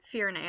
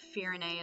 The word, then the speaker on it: Firene: Firen or Firene? Firene, I think that's how they pronounce it in the trailers.